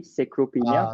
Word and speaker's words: sarcopenia: And the study shows that creatine is going to help you with preventing sarcopenia. Did I pronounce that correctly? Sarcopenia, which is Sarcopenia. sarcopenia.